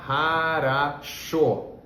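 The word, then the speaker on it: хорошо: russo, a gente fala harasho, né? Essa palavra tem 3 Os, harasho, mas o último, que a gente pronuncia com mais força, ele tem som de fato de O, e os outros 2 se pronunciam como A, tá bom?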